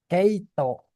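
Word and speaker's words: 毛糸: Itu dibacanya keo. Keito.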